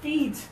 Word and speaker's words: feet: high in your mouth think about your tongue and just a little bit of air is leaving your mouth close your eyes for